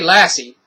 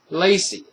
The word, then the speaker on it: Lacey: And the way it's explained, this woman, detective woman, Detective Lassie, I say Lassie, but it's not Lassie. Gosh. Lacey.